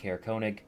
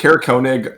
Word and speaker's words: Konig: know he was going to be stopping in Konig and picking up supplies is at uh Frozen far Expeditions so maybe you can ask around there and see if anyone saw him or might know anything is Konig uh one of the tent towns yes okay